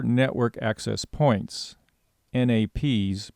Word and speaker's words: NAP: organized the network around 4 network access points, NAPs, pronounced NAPs.